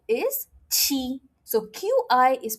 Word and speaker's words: xi: XI is pronounced as alphabet C.